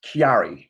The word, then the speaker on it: Chiari: Is it called Chari? Sort of like a cousin. Yeah, Chari. Could you tell us a little bit about what Chari is and what life is like with it? Well, it's pronounced Chiari.